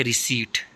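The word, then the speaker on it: receipt: हा और नहीं पढ़ते सबसे पहला है रीसीड जो रसीद होती है उसको कहते हैं इसमें जो है पी साइलेंट है इसके बाद है डाउट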